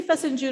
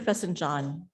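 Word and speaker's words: fesenjan: Buzz, do you say Fessenjun or Fessenjan? June, yes. It's a regional difference how you pronounce it.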